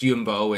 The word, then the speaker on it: Jumbo: But then, I was going to the Jumbo or Jumbo. It's pronounced Yumbo in in Dutch, you know, English dialect.